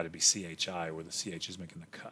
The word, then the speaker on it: chi: letter looks kind of like an x it's pronounced chi if we spelled it out it'd be c-h-i where the c-h is making the sound chi chi squared so what